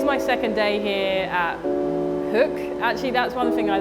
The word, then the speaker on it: Hoek: So today's my second day here at Hoek. Actually, that's one thing I learned. I've been saying Hoek for months, and I just found out it's actually pronounced Hoek.